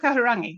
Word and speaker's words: Kahurangi: So yeah, but he did okay with Kahurangi. He said that correctly.